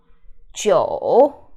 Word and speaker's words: 酒: 酒. This one is tricky. 酒. And the IU final is yo sound.